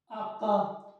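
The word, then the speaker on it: acca: नहीं होगा एफ आगे है जी जी जी आका एच जो है इसको आका कहते है एच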